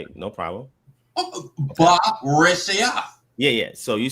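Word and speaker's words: בְּרֵאשִׁית: Just like the word for in the beginning, it's ba reshia. Okay, that's how you say it. No problem. Ba reshia.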